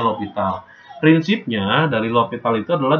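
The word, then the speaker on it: L'Hôpital: Nah, tulisannya L Hospital ya, tapi dibacanya L'Hopital.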